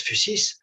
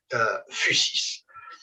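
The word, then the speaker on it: physis: presque toujours en fait le mot fusis je prononce fusis vous pouvez l'écrire soit Phu sis soit phy SIS de toute façon c'est euh c'est la même prononciation on prononce en général donc fusis fusis est apparenté en grec à un terme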